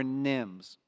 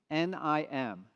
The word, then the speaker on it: NIM: Nvidia inference microservices or Nims a very short word easy to pronounce nim nim what is a Nim